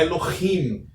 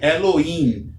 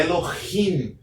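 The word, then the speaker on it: אֱלֹהִים: Então, a expressão aqui, ou a pronúncia deste vocábulo é Elohim, não é Elohim, é Elohim, pois o Re tem um som de um H levemente aspirado.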